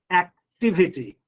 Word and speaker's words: activity: Activity. Why I'm giving stress on T? Because if you count from the end, T is the third one from the end.